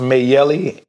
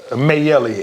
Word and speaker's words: Mayelli: Uh, I believe it's pronounced Mayelli. M as in M A Y E L L I.